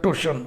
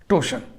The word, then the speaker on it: torsion: TORSION उच्चारण होता है टोशन, आर साइलेंट, टोशन।